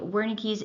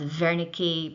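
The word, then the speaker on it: Wernicke: So this is going to be performed by Wernicki's area. Uh technically pronounced Vericki because he was German but most Americans pronounce it Wernickis.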